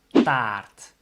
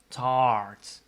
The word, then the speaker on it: taart: cake in Dutch is taart. And if you're English, you would pronounce it as tart. But make your mouth a bit wider to pronounce it in Dutch, so it becomes taart.